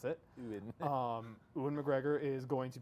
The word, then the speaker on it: Ewan: That's the correct way to pronounce it. Ewan.